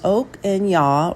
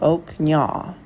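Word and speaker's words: ឧកញ៉ា: I may be butchering this, but it's pronounced Oak Nya or Oak Nya on many of the business cards here.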